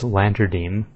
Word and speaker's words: Lantadyme: But the correct pronunciation is Lantadyme.